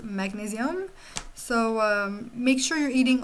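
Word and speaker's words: magnésium: In French is magnesium. So it's spelled the same way, but it's pronounced magnesium.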